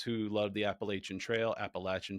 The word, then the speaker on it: Appalachian: Appalachin Trail for anyone that gets upset with my correct pronunciation of that word.